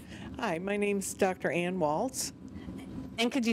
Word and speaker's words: Waltz: Ann Waltz. And could you spell that for us, please? W-A-L-T-Z, like the dance.